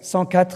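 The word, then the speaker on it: Centquatre: so this sankat place sankat is a number of the street 104 but we pronounce the name by letters to make sure that people won't call it by digits numbers but we'll give it by a real name the place has three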